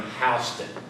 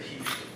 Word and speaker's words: Houston: you heard me correctly I'm not mispronouncing his name even though it was spelled Houston he didn't like a fellow uh contemporary that was of the same era sound Houston so he chose to pronounce his name hon instead of Houston and he built three